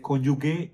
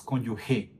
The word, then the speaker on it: cónyuge: cónyuge nacional colombiano titular porque no se pronuncia cónyuge se pronuncia cónyuge G Gracias profesora Mónica por el tip Es que aquí en YouTube he escuchado millones de veces que la gente dice conyugue y es cónyuge como si tuviera una G Pero bueno